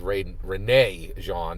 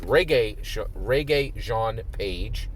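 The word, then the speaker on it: Regé-Jean Page: I think I said Renee Jean in one of my previous videos. The correct pronunciation is Reggae Jean Page, right, from Bridgerton.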